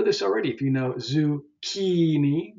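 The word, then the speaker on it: zucchini: sort of Silent things the second last syllable the penultimate and you may know this already if you know zukini zukini right that's the second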